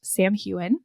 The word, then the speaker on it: Samhain: So that is pronounced Samhain.